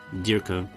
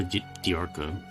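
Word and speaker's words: Dearka: Little figurine of a Dirka, that's his name, or Diarca, depending on how you want to pronounce it.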